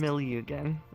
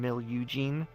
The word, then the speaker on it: Milyugen: Millugan. Yeah, Millugan is how it is. Everyone just calls me Millie though since it's a lot shorter instead of feeling Mil Eugene. Uh, which is the common Yeah, the common American pronunciation, I bet.